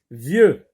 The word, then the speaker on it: vieux: Vieux. X ici ne se prononce pas.